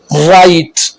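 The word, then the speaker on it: write: आर से पहले W silent होता है, जैसे wrong, राइट, रैप, रीस्ट, GH silent.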